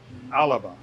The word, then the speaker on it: Alba: So, so like the Scottish word for where they live, Scotland, is alaba, but it's spelled Alba.